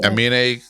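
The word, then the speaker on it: Aminé: Is it Anime? That's how you pronounce it? Anime? Amine. Yeah.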